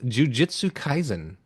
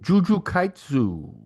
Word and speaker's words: Jujutsu Kaisen: 6, Jujutsu Kaisen. No? Anybody? Juju Kaitsu.